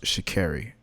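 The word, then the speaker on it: Sha'Carri: "My family has kept me grounded," Richardson, whose first name is pronounced Shakairi.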